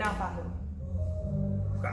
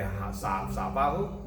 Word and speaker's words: Naufahu: People, love me, so they like to call me, but it's actually pronounced. Yes. So Naufahu. Naufahu?